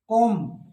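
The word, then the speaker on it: comb: अच्छा एक और है शायद, कोम, इसको भी बी नहीं कहते, कंघी, कोम्ब नहीं कहते, कोम, कोम वह बोलते नहीं, तो कोम।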